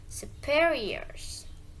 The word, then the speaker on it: superiors: Stress is usually on a syllable before the suffix "-ir". So to read it properly, superiors.